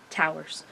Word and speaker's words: towers: looking at, figured out that towers is 1 syllable. Actually, I think I was looking at Wikipedia, and that's the article described both watery and towers, but towers being 1